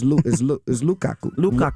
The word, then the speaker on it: Lukaku: Okay, now, Romelu Lukaku is his name. I hope I pronounced it. What's his name? Lukaku. It's Lukaku.